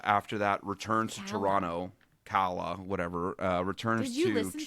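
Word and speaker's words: Calla: And you know, Ren dies at the end and Kayla uh after that returns to Toronto. Kala, whatever.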